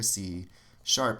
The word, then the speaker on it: C sharp: is called c sharp this is how you would pronounce it c is sharp it's not a hashtag guys if you spend a lot of time on social media maybe you think it's a hashtag in in music it's